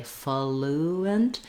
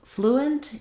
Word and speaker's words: fluent: Then when we move on to the second syllable of fluent, you might see it with a schwa or an I sound, just thinking about almost having no vowel there at all, going almost directly to the N, fluent and fluent.